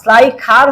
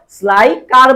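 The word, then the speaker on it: Schleicher: স্লাইখার হয় মেইনলি নামটা, বাট আমরা স্লাইখার না বলে আমরা কি বলবো বলতো? স্লাইকার বলবো।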